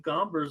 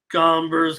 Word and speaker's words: Gomber: Gomber's cash money. I don't know if Solo meant to say, but I mean, yeah, that hombre is cash, but it's hombre kind of rhymes with Gomber a little bit.